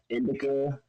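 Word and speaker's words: INDIlCA: You can find me on Twitch at Indica. The L is silent.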